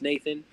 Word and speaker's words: NTHN: It goes by it's spelled NTHN, but it's pronounced Nathan.